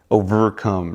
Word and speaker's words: Ovrcome: be used everywhere so I cut out the first e overcome right just OVR and there was only